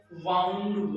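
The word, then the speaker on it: wound: भी नहीं है क्योंकि दोनों जो स्पेलिंग है वो दिखने में सेम है लेकिन मीनिंग में उनका प्रोनंसिएशन अलग-अलग है। तो एक बार फिर से देखिए इधर विंड का सेकंड फॉर्म होता है वाउंड।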